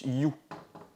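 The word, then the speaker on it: ю: Donc cette lettre là, on la prononce you. Un peu comme en anglais, ça se prononce you.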